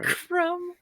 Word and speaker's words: crumb: A crumb. Okay. That's with a B. The B is silent. Crumb. Yeah, silent B's. B? Yeah, silent B crumb.